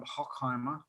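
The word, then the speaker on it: Hochheimer: little village area called hockheimer and uh the english wine trade shortened that to hawk now it's spelled h-o-c-h heimer but um the english just spilted hock as in hock and if you're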